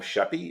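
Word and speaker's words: Sheppey: I remember correctly and I may have the pronunciation wrong you were on the aisle of sheppy is it sheppy is that the right right that's right yeah oh sorry a little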